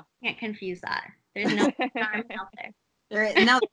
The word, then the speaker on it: Narmin: A lot of people don't know how to say my name either, so I have to like always say Carmen, but with an N. Narmin.